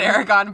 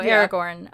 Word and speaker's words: Aragorn: just pronounce it wrong now oh did i pronounce it wrong yes you said erika said aragon but also everybody does occasionally so yeah no aragorn um it's written i was really uh attempt